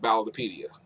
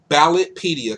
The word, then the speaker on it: Ballotpedia: If you're looking for something more of a national scale, then you can look at a website that I go to called Ballotopedia.